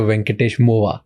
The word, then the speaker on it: Venkatesh Movva: Venkatesh Movva. Yes, That's sir. how I pronounce it?